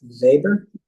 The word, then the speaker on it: Weber: German guy named Max Weber. Germans like to pronounce their W's with V's. Max Weber, lawyer and economist.